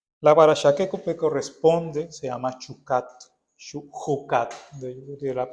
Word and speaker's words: Chukat: día de hoy la parachaquecupe corresponde se llama chucate de la pronunciación correcta esta palabra está en el comienzo